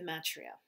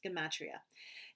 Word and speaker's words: gematria: uh it was called the matria i think i haven't pronounced that word properly it's gematria and every number has